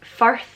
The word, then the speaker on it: firth: Firth, like Firth of Clyde, is pronounced with an I, but I guess it does have more of a U sound.